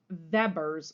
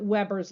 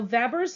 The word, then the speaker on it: Weber: law it's actually pronounced Weber's law like a V because it is German but I'll pronounce it Weber's law just so you